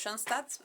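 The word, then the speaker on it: Schoenstatt: En ese momento también e se me aparece eh la Virgen, la Virgen de John Stat, de John Stats, así se pronuncia.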